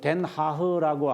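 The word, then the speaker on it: Den Haag: 그 다음에 이제 뭐 이런 이거 덴 하흐라고 하는 게 이제 더 헤이 영어로 말하면 더 헤이거예요. 헤이거. 더 헤이거인데 그들 발음에 의하면 덴 하흐니까 제가 그냥 덴 하흐라고 해서 나중에 책을 읽으실 때 헷갈리지 않았으면 좋겠습니다.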